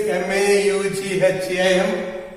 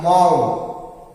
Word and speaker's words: Maugham: It's difficult to pronounce, though the spelling is M-A-U-G-H-A-M. It is pronounced as Maugham, something like Mo, but there is a W sound after Mo, so it will be Maugham.